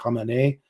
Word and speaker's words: Khamenei: is the proper pronunciation although you'll probably hear khamenei as the uh anglicized pronunciation um he becomes the supreme leader replacing